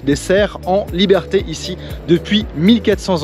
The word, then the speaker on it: cerf: and cerf if it's a male.